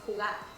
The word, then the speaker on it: jugar: Play is jugar. Jugar. Jugar. Jugar. Not jugo like juice. Not jugo.